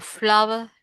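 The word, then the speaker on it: flour: Yes, it's like it sounds like this word for flower, right?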